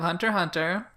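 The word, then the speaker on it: Hunter × Hunter: so next we have hunter hunter it's not the ex is not pronounced okay there's a [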